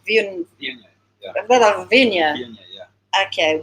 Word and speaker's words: Viognier: So you've got 71 Syrah percent, Grenache 11, Cinsault 9, Cabernet 8, and how do you pronounce Viognier? Viognier, yeah.